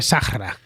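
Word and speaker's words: Sahara: En árabe, Sáhara, que significa desierto, se dice Sahra, así es como lo dicen los árabes. España ha tenido presencia reciente en el Sáhara, como acabo de comentar, y de allí pues se traerían los españoles lo de Sahra.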